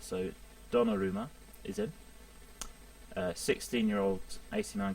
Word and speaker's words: Donnarumma: I also brought in Gianluigi Donnarumma, or Donnarumma, in fact. Say his name properly. I do apologise for saying that wrong at first. So Donnarumma is in.